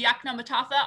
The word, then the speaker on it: Yoknapatawpha: Today, we have the honor and privilege of being joined by Wayne Andrews from the Yoknapatawpha Arts Council, also known as the YAC.